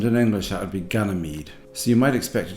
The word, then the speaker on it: Ganymede: This is episode 10, which is the one where Jet has to go back to Ganymede, and while he's there he bumps into his old girlfriend.